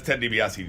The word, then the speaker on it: Ted DiBiase: PBS the bossy I knew I was gonna pronounce that wrong and Randy Orton that's Ted DiBiase jr.